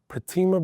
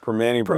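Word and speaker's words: Primanti: Soft pretzel or I can never pronounce this right. Pertima Brothers? Permane Brothers.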